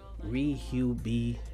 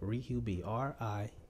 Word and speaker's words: RiHuBe: boys and girls, and welcome to the first RiHuBe podcast. That's how that's pronounced, in case you're wondering. One word, but you got to put it in more than one word on Facebook. Look me up, RiHuBe, RiHuBe on everything.